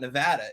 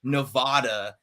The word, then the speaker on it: Nevada: the east coast and if you say nevada in nevada they will shoot you it is like the worst thing that it's like it's like hurts their soul when you do it to them so they're very proud of the way you're supposed to say nevada well i'm from missouri and